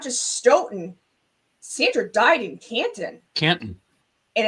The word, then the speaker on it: Canton: It's not Canton like it's spelled. It's Canton.